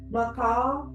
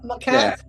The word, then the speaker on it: macaque: Macaw? Is that how you say it? Macaque. Macaque, yeah.